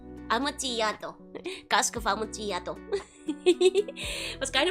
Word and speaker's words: Amontillado: It's actually pronounced like Y, so Amontillado. Amontillado.